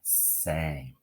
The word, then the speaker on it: same: If we take a look here, folks, if we take off the E, this word is now am with a short A closed up by itself. But when we add magic E to the end, okay, now that first vowel can be long and say its name, same.